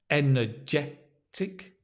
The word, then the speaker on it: energetic: great I feel energetic energetic let me just make it clear for you the stress energetic full of beans full